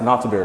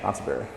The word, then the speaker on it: Nonthaburi: It's pronounced Nonthaburi, right? Yeah. Nonthaburi.